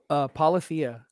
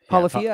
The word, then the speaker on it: Polyphia: Oh, is that how it's pronounced? Polyphia. Oh, Ren is, Polyphia, I think so. Is it? I think it's a made up word.